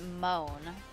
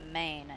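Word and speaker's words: Måne: It's Moan. Moan in Swedish, but man in English.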